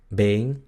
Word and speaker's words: been: Luego tenemos la E larga, que es muy parecida a la E del español, es frontal y algunos holandeses la pronuncian ei, ei, pero el sonido real es e, e, ¿ok? Es frontal, como en las palabras been y geen, been, geen, been, geen, significa pierna y ninguno.